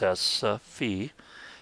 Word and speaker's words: salsify: Instead, Salsify, pronounced Salsify, hails from the Mediterranean, where the ancient Greeks and Romans harvested the roots for both food and medicine.